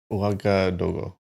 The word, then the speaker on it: Ouagadougou: How do you pronounce that? Ouagadougou.